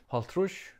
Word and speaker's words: hálvtrýss: Haltrush comes from the old Danish halv tredje sinds tyve, meaning half third time 20.